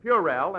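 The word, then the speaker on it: puerile: you out on that you've been pronouncing them words all wrong what do you mean well I found out in night school that the correct pronunciation is purel and banal oh it is that's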